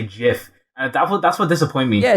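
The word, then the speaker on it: GIF: a crazy thing because the people who say jiff they've got a backstory behind it because the creator says jiff so the very least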